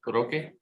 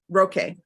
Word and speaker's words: Roque: Roque. Roque. See, there was no accent over the E.